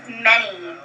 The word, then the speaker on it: many: And then we hear the sound. N. And then the last sound makes a long E sound. The Y makes an E sound.